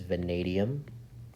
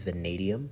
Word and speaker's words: vanadium: on your periodic table all right this is vanadium via V is vanadium that's how you pronounce that FR is francium s e is